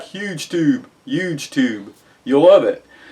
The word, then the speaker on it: HugeTube: And if you like YouTube, you'll love HugeTube, and it's pronounced huge tube. Just so you know, huge tube.